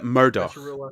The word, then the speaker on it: Murdoch: people hate it and it's the only thing that REM rhymes with my real name so I have a little investment with that as well mandol liion uh Murdoch my my name is Murdoch oh that's a cool name